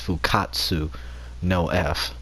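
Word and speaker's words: Fukkatsu no F: Resurrection F, or and the Japanese version is pronounced Fukatsu no F, or the return of Frieza.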